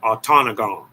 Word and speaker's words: Ontonagon: He's saying Ontonagon.